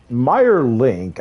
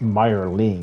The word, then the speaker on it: Meyer Ling: Meyer Link, I thought that that's his name, like Meyer, like the bread Meyer. M-E-I-R, I think that's how it's spelled. And, you know, Link. But no, it's Meyer Ling. You have ignited the torches of liberty. Like M-I-E-R-L-I-N-G, but whatever.